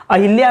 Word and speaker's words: अहल्या: यह जगह का नाम क्या है, द्वारका नाम है, अहिल्या नाम नहीं है, अहिल्या नाम नहीं है, अहिल्या गलत है, अहल्या है।